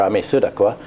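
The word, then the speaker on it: Ammisaduqa: it's the Edict of Ami sadaka uh or Ami sudaka as it's pronounced in uh uh Arabic has been uh uh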